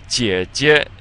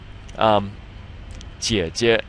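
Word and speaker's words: 姐姐: Jie jie. So it's just these 2 together, and you'll notice on the first one there's the 3rd tone, but on the second one it's pronounced neutrally, without a tone.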